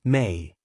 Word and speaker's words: Me: They speak of the Me, pronounced May, which are not physical